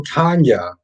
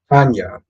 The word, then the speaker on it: Tanja: Oh, Tanya. The J is silent. My bad. Tanya.